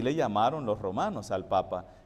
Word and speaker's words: papa: verdad Pero Acuérdese que en italiano en italiano se dice mamá ni papá no lleva acento se dice papa y mamá entonces por eso el